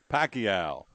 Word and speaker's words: Pacquiao: the woods and waterways the tww uh Manny Pacquiao I say it right you did and Floyd